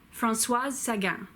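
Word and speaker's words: Françoise Sagan: sat yeah Francois Sagan it's very important that you say the S at the end of France was because that's what makes it a female name as opposed to the male named Francois she wrote Bonjour tristesse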